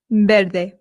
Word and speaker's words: verde: Now remember I told you that the V in Spain makes a light B sound ver. However, in Latin America it does make more of the English VV sound.